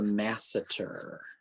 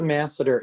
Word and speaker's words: masseter: open and close so this is called the masseter m a s e t e r so once you put the masseter in it sort of covers up that angle